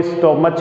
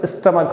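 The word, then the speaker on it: stomach: इसका प्रोनाउंसिएशन लगभग बच्चे रॉन्ग करते हैं, कोई स्टोमच बोल देता है, कोई कुछ, लेकिन राइट प्रोनाउंसिएशन स्टमक होता है।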